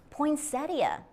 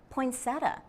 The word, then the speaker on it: poinsettia: is the question of how to say poinsettia do not be surprise if you hear someone say poinsetta both pronunciations are common in the 1920s Albert